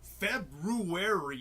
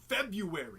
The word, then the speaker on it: February: February. It's pronounced February. No, it's not. Yes, it is. Say it right. Look at the spelling, you dick. What, you want me to skip a whole R?